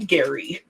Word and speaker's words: Gerry: Actually, gerrymandering named after a person who pronounced his name Gary.